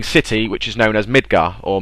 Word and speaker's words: Midgar: which is known as Midgar, or Midgar. You know, pronunciations sometimes vary, but the official pronunciation is Midgar. The R is silent.